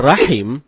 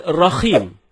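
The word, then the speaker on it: الرحيم: ada sebagian kita membaca rahim dengan rahim. Ini merubah makna. Rahim artinya yang maha penyayang, sedangkan rahim artinya maha merdu. Bacaan yang benarnya insya Allah dengan huruf H dalam tenggorokan. Jadinya rahim, bukan rahim.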